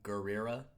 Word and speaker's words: Gurira: of wacky fake accent you know how to pronounce her name cuz I don't deny gurira yeah that's it yeah I am awesome yes